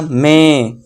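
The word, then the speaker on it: May: बहुत सारे इसे क्या पढ़ते हैं? मई पढ़ते हैं।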